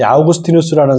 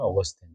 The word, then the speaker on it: 아우구스티누스: 아우구스티누스를 우리 공부할 텐데, 이 아우구스티누스라는 사람이 여러분 아마 한 번은 들어보셨을 거예요. 그렇죠? 아우구스티누스 처음 들어보시는 분? 처음 들어보셨어요? 네. 그러면 어거스틴이라는 이름은 들어보셨죠? 어거스틴. 네, 똑같은 이름입니다. 같은 사람이에요. 어거스틴은 이제 영어식 발음이고요.